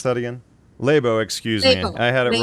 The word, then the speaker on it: Laibow: How do I pronounce that again? Laibow, excuse me.